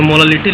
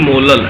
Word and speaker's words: molal: जैसे अगर मोलालिटी लिखा हुआ है 3 स्मॉल m, इसको पढ़ते हैं 3 मोलल, ऐसे प्रोनाउंस करते हैं 3 मोलल।